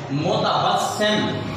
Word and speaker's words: متبسم: زیر، اوپر شد اور میم کے اوپر جزم، متبسم.